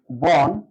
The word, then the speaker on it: বন: মন যেমনটা মন মন লিখি বন উচ্চারণ করেছে বোন অর্থাৎ এখানে একটি মাত্র